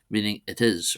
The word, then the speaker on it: is: Next we move on to the copula uh or is not is it's pronounced is despite the spell being spelled the same as English it means it roughly means its.